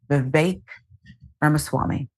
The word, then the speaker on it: Vivek Ramaswamy: Vivek Ramaswamy. That's the pronunciation.